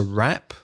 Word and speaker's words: wrap: the end that's a wrap that's not rap like rap music alright P that's WRA P to wrap up means